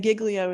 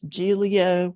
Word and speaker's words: Giglio: On the Giglio, and Giglio is how the Southerners pronounce it. It's Giglio.